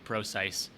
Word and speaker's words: Prosise: CJ ross ice gross Pro precise is that how you say it yeah I did say I just I know because I watched some of the Seahawks game and that's they were saying CJ Prosise precise well replace precise I